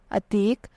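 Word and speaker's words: Atique: है बहादुर और डर द नेक्स्ट वन इ अतीक स्पेलिंग है ए डबल टी आई क्य यू ई अतीक नाम के उर्दू मानी है बर्ग सदा द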